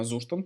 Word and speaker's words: Zustand: Говорят, что читается он правильно Zustand, потому что он немецкий разработчик, вроде как его сделали.